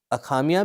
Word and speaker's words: असमिया: आर्य भाषा परिवार में हिंदी, उर्दू, बांग्ला, असमिया असमिया का उच्चारण अखामिया भी होता है।